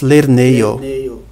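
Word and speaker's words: lernejo: Em Esperanto nós temos lerneio, ei. Você vê aqui de novo um E seguido de um J, que é pronunciado como ei.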